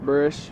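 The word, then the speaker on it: Buresh: Forbes, go ahead and pronounce and spell your name. Burish, B-U-R-E-S-H.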